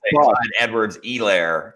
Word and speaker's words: Clyde Edwards-Helaire: Sam hates when I say Clyde Edwards-Helaire too. She hates how I pronounce that last little E at the end.